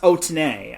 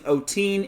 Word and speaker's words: Otene: Tamara Otene, yes, her name is pronounced Otene. I've been pronouncing Otene, and let's just say I'm not good with last names.